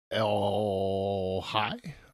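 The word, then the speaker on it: El-Hai: Jack L. Hai, I think I pronounced this E-L-H-A-I. That was explained by him.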